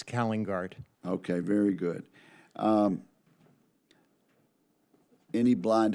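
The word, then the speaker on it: Calingaert: You had it right, Senator. It's Kallengaert.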